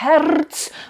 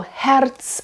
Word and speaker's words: Herz: So Herz, I think it's okay to flip a little bit. And that's a word that repeats and it's in the title, so that's an important word. But I wouldn't roll it too much.